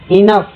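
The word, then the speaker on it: enough: Silent है। Laugh जी एफ जी एच को एफ पढ़ते हैं। इनफ इनफ को जी एच को फ पढ़ते हैं।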